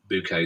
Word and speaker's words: Bucket: up appearances of course then they was spelt buckets but she pronounced it hyacinth bouquet so who played hyacinth